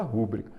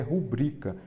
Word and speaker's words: rubrica: Muita gente fala rúbrica. Quando a maneira correta de escrever é rubrica. Então, rúbrica não tem acento, é rubrica. Ela é uma paroxítona, porque a sílaba forte é o bri.